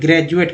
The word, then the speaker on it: graduate: जैसे एक वर्ड ले लेते हैं ग्रेजुएट का, GRADUATE, उच्चारण करते हैं ग्रेजुएट, डी को ड, द और यहाँ ज भी बोलते हैं। पढ़ेंगे सबके साथ। ग्रेजुएट में डी को अगर ड बोलते तो ग्रेजुएट पढ़ता है, द बोलते तो ग्रेजुएट पढ़ते हैं, ज बोलते तो ग्रेजुएट पढ़ते हैं। तो ये प्रूफ हो जाता है कि ज भी डी को बोलते हैं।